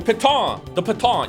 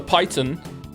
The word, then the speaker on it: piton: That mouse made fun of me for not pronouncing properly because it's a French word. The piton. You can have more pitons. Or as I said, the python.